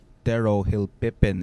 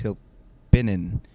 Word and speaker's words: Hilpinen: For the longest time, I thought that it was Tero Hilpipin. It's Hilpinin.